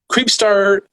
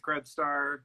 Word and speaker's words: Krebstar: So we have Allie with Creepstar Industries. I did pronounce that correct? I mean, it's from the series Krebstar. Yeah. Krebstar Industries. Yep.